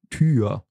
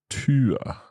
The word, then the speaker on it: Tür: And again, you have words that it's pronounced a little bit longer. For example, Tür. Tür.